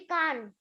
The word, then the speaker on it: chikan: Does it have chicken, the one chicken that you eat? Ma'am, this is in Chikan. Chikan. No, we pronounce it as chicken only, not chikan.